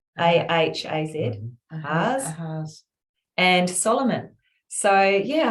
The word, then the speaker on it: Ahaz: Ahaz, A-H-A-Z, Ahaz, and Solomon.